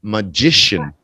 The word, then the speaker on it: magician: that position yeah that that's C that k sound turns into a sh sound yeah it's